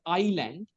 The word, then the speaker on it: island: You have pronounced a number of words wrong. It is island.